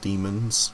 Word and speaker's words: DMNS: it um alleviates debut dmns um or demons as I'm pretty sure it's pronounced it's good I like